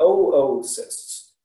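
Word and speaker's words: oocyst: we've got osis and we've got oo cysts that's how you say it 2o so we say oo cyst so what's the difference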